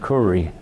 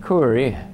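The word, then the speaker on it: Kure: Landed comfortably in Kuri.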